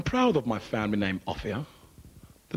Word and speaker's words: Offiah: be Martin's best friend his surname is pronounced AIA but the English press call him a fire he should be called offia cuz he's a good